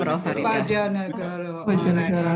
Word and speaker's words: Bojonegoro: So I hope that one day I can go to how you pronounce it? Bojonegoro, Prof. Farida. Bojonegoro.